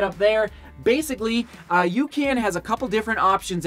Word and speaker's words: UCAN: a couple weeks ago it's spelled U CA an you can hydrate and I'll just put this guy right up there basically uh Yukan has a couple different